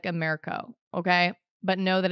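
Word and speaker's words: AMERCO: and and you're going to hear the name Amero it's spelled a m e r c o it's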